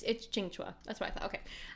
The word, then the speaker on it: Qingque: Okay, I love it's Chingua.